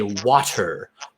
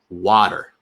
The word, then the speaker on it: water: And then importantly, that t does not sound like a t. It sounds like a d. We don't say water. Water. We say water. Water. Is it slow D or fast D? Oh, it's certainly a fast D. Water. It's just a flick of the tongue.